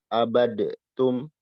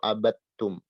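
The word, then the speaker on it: عَبَدْتُمْ: Ini dibacanya abadtum atau abattum. Maka yang benar yang kedua yang ini. Ini salah. Kan ada dal Ustaz. Iya, tapi dia melebur ke ta. Kita tidak baca abadatum, tapi abattum.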